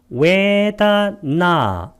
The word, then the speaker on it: 웨다나: 웨다나, 나는 장음으로 발음해야 됩니다.